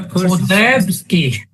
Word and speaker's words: Korzybski: Then I can look at what, I don't know how to pronounce his name, Greg Bateson. Say that again? Korfsky? Yeah, Korzybski.